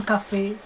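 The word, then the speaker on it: Coffey: À chaque fois que je vois ce black là qui s'appelait John Café. Ça s'écrit comme le café, mais... Non, ça se dit comme le café, mais ça s'écrit pas...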